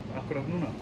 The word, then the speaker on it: akkurat núna: Akkurat núna.